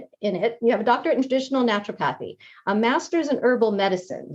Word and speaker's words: naturopathy: Her professional credentials include a doctorate in traditional help me pronounce this, naturopathy.